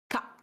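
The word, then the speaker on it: 蚊: Maintenant, je vous propose de voir le moustique, parce que le moustique, ça se prononce ka. C'est juste ka.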